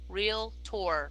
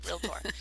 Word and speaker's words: realtor: and by the way realtor two syllables guys real tour realtor it's a pet peeve sorry